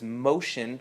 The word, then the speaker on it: Moshe: name, and she said, tell them your name is Moshe without the N, and then they get it.